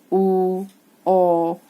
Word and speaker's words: walk: Here L is silent. Walk.